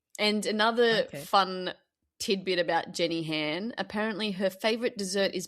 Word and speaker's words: Jenny Han: Her last name rhymes with Anne. Jenny Chan. Oh, you are so close. It is Jenny. It's Jenny Han, not Jenny Jan.